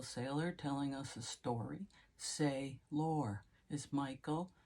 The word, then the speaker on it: Saylor: think of Archangel Michael but Michael say lore he doesn't spell it sailor like as in uh you know on a boat he spells it s a y l o r and may I add the E say lore he's telling us a